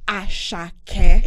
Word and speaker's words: Asake: And it's pronounced Asake.